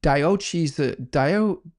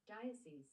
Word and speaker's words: diocese: Cardinal Bagio to the Diois Dio Diois Dio. How do you pronounce that? Diois do I don't know how to pronounce that. Dascese Dascese okay thank you Google to transfer Cardinal Bajio